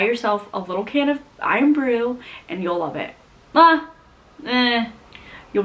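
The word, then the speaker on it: Irn-Bru: So they have a soda called Iron Brew, but they spell it IRN space BRU.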